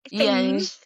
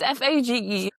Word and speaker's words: Fage: Phage. I just know Phage is wrong. It's Fage.